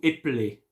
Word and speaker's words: épeler: But when you go fast, you can say, pouvez-vous épeler? Épeler, you see? So this is why, there is a 2 way of pronouncing it, and it's not the